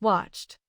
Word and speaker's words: watched: How do you pronounce watched? Watch ends in CH, so the answer is T.